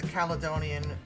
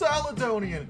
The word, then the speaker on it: Caledonian: So I will add the Caledonian Railway 440 Duna La Star, which I probably said wrong. Actually, it's pronounced Saladonian. No, it's not. Stop lying to me, Kane.